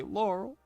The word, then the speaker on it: Laurel: I don't know why I say it like that, but that's how you say her name. You say Laurel.